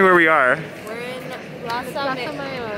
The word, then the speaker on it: Plaza Mayor: We're in Plaza Mayor. How do you say it? Plaza? Yeah. Plaza Mayor.